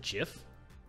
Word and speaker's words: GIF: us so much joy is it not right to honor the creator's wishes and pronounce it jiff yes in my opinion